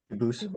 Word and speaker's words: Dubus: I know a family with the same exact spelling in America, and they do pronounce it Dubus, but you said you pronounce it Dubus, as the original Dubus, as the original French.